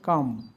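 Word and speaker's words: calm: যেমন বি এল এম এই এল উচ্চারণ হয় না বাম এ এর পরে এল আছে এজন্য এইযে ভাওয়েলের পরে এ আছে এল কাম কাফ হাফ ফক পক টিক টক সরি টক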